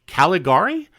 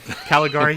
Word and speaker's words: Caligari: And one of the things I noted was that you released just recently a motion picture soundtrack for Caligari. Am I saying it right, Reiner? Caligari?